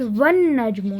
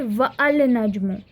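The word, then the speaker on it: والنجم: अच्छा देखें, वन नजमू is pronounced as वन नजमू, नॉट वल नजमू, राइट, और वन नजमू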